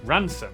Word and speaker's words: Rampisham: Starting in Biaulio, Bewley, head over to Rampisham, Ransom, then down to Mousehole.